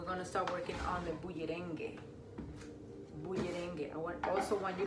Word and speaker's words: bullerengue: And then we're gonna start working on the bullerengue. Bullerengue. I also want you to practice saying that. Say it 1,000 times this week, okay? Bullerengue, bullerengue, bullerengue.